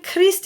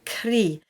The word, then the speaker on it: Christ: So when Christ is on its own, if we didn't have the ST, it would just be cri. And actually, cri would be to scream as well. So it's not particularly elegant, and it can cause a bit of confusion. So we bring the ST back in.